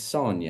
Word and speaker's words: Sonia: Sonia, did I get the pronunciation right? It's Sonia.